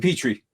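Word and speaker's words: Pitre: How you pronounce his name? Petrie.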